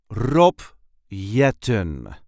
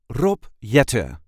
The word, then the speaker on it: Rob Jetten: Rob Yetan. There is a light emphasis on the first syllable of his last name.